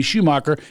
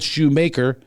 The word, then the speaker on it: Shoemaker: been my actor now i hate people still call me schumacher it's spelled shoemaker and always has been by the way i